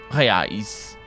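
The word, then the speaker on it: reais: could buy for 25 real or high-eyes depending on if they wanted to be portuguese uh because l gets pluralized differently in portuguese actually i'm pronouncing it i didn't even pronounce it in any kind of english pronunciation that's not that's not at all at all no that is the brazilian pronunciation i think uh this is more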